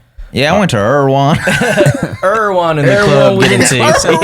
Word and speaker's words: Erewhon: I have been told and heard that it's Erewhon. Okay. Erewhon seems like maybe if you had like a southern twang to it. Yeah, I went to Erwan. Erewhon in the club.